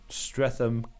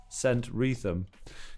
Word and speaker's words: Streatham: like to admit where they lived and would mispronounce them. Clapham, Clam, or Streatham, St. Wreatham.